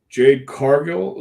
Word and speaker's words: Jade Cargill: is is you do still have surprises Jade Jade Cargill is that how you pronounce it yes just just showed up at